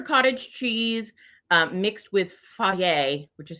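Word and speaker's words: Fage: so good culture cottage cheese uh mixed with foie which is spelled f-a-g-e yogurt and uh they are i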